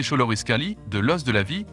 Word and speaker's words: Xoloitzcuintli: La mythologie aztèque a affirmé que Xolotl, le dieu aztèque de la foudre et de la mort, a fait le Xoloißcuintli, prononcé Xoloitzcuintli, de l'os de la vie, conférant au chien un pouvoir de guérison physique et spirituelle.